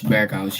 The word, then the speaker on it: Berghuis: Is that how I pronounce his name? Berghuis, yeah. Berghuis. Berghuis, Pretty yes.